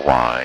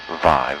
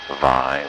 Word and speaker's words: wai: of what we call why or vi v should pronounce it with the V sound vi vi is fresh water